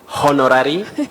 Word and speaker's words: honorary: of it Betty is that letter H is silent you don't say honorary you don't say honorable